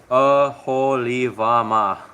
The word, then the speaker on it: Oholibamah: It's pronounced Oholibamah.